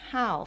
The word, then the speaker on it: 好: hobby I how so you have to read this word how as how fourth tone I how Hobby let's